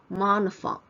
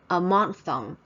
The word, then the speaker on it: monophthong: You know, ph normally we pronounce it as f, but here actually it's silent, so it's monophthong, monophthong, diphthong, 双母音或者双元音。Diphthong's pronunciation is